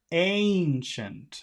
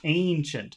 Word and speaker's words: ancient: great you always say great remember that yes that's the same okay we have the same sound here Ancient Ancient so you start with e but then you have